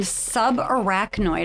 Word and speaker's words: subarachnoid: and you survived a ruptured brain aneurysm and subarachnoid I hope I'm pronouncing it correctly Hemorrhage and we're dying to